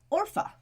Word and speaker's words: Orpah: about her birthday is not actually Oprah it's Orpha which is Hebrew for neck it's a Bible name ma'am but people kept mispronouncing it as Oprah and it's stuck because Orpah is hard to say yeah I mean I